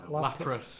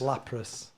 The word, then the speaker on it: Lapras: How do you pronounce it? Lapras. Lapras.